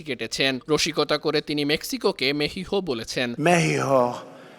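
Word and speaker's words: México: রসিকতা করে তিনি মেক্সিকোকে মেহিহো বলেছেন। সেদেশের প্রেসিডেন্ট নাকি মেক্সিকোর নাম মেহিহ উচ্চারণ করেন।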